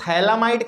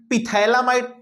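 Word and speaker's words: phthalimide: ए हो गया इसको थैला माइड कहते हैं इसको थैलीमायपत्ति थलीमा इड अभी नहीं कन्वर्ट पिथला माइड नहीं यहां साइलेंट है तो आप याद रखेंगे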